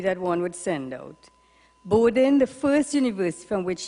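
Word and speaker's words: Bowdoin: one would send out borden the first universe from which he graduated rhymes with slowed in or growed in accent on first syllable thomas says he can't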